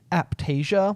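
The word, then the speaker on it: Aiptasia: of your other corals and it was called aptasia yeah but it's spelled like a i p t a s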